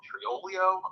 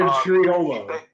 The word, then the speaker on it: Triolo: And with like a Sunday benching of Tro Tri Trilio Triolio on Pittsburgh. Yeah. Is that how you pronounce it? Jared Triolo.